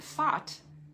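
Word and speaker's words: Phat: enlightened mind, and it destroys negativity, and then Fat, P-H-A-T, is this explosive syllable that cuts through all obstacles.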